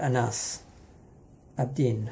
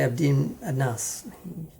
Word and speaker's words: Anas Abdin: bad oh well um that's right anas abdin i always want to say abdi a nus i'm bad with um